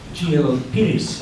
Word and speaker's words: Peiris: The Honourable Professor Peiris, I think that's how it's pronounced, it's Portuguese, P-E-I-R-I-S, yeah.